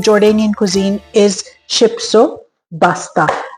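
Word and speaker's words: Shipsopasta: The Jordanian cuisine is शिप्सो पास्ता। Actually it's शिप्सोपास्ता but since एरव्स can pronounce P सो दे से बी।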